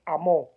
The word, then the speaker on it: amó: Aquí aparece la palabra elección, la palabra por cuanto Jehová os amó. Y esa palabra tiene un fuerte acento en la O.